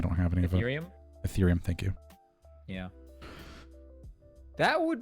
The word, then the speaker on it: Ethereum: don't have any earth etherium earth i don't pronounce it but i don't have any of it ethereum thank you yeah that would be does uh